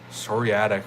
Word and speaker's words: psoriatic: So psoriatic arthritis begins with a P. So it's Psoriatic.